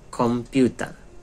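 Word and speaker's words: コンピューター: Selanjutnya adalah komputer, artinya komputer. Komputer. Komputer. Tulisannya kon ya. Komputer tulisannya. Komputer. Bacanya komputer. Jadi M gitu.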